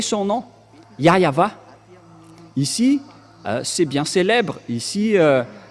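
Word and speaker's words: Yahweh: ici chez les Orientaux il prononce vraiment le W par un V ou par un B c'est ici qu'on voit clairement que le W et bien un V mais ce sont les Occidentaux qui l'ont changé en mais pour les Orientaux il prononce bien le W en tant que V mais c'est le V qui est vraiment la bonne prononciation et c'est pourquoi ils ont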